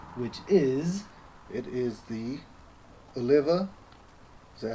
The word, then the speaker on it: Oliva: It is the Oliva. Is that how you pronounce it? Yeah, not Olivia.